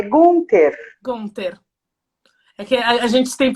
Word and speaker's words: Gunther: realmente ela gosta disso pede para pronunciar o meu sobrenome é gunter conta aqui a gente